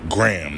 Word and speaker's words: Graham: This shit is just Graham Ave. Like Graham, like, yo, let me get a Graham. Graham Ave. Not Graham. Graham or whatever the fuck. That shit is just stupid. Graham, nigga.